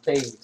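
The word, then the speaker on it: Toews: Or, like his mom would like to pronounce it, Jonathan Taves. Is that so? Absolutely. French heritage.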